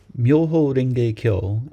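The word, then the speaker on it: Myoho-renge-kyo: Muho ring kilo is a Japanese way of pronouncing the five Chinese characters used to translate sedharma pandarika sutra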